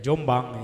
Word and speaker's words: Jombang: Tebu Ireng yaitu pesantren Tebu Ireng Jombang, Jumbanj, dibacanya ya Jombang ya. Nun dan jim itu menjadi eng. Ada lagi eng itu ain titiknya 3, itu juga eng.